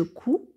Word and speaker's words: couds: joucou ds et assure qu'on ne prononce pas ds donc on dit je couds du coup l île